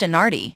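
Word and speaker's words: Anagni: frescoes plus papal Palace in Agni pronounced inardi is famous for the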